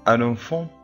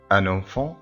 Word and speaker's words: un enfant: Un enfant peut le faire. Un enfant طبعا هنقول un enfant مش هنقول un enfant ولأن هنا هتتنطق. Un enfant peut le faire.